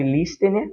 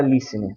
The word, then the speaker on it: listener: Se escreve listener, mas se fala listener.